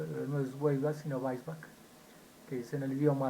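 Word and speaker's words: Weisbach: en español yo he escuchado mucho que dicen huelva no vuelvas si no vais back que hice en el idioma alemán entonces tenemos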